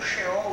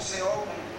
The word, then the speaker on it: Sheol: do Velho Testamento, sim, existia o Sheol, o Seol, né? Conforme o professor de hebraico pronuncia, então aquele lugar, então